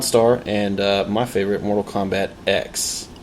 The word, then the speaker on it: Mortal Kombat X: and uh my favorite Mortal Kombat X x marks the spot x marks the spot but it's pronounced ex as in X oh I get it like ex-girlfriend oh good yes very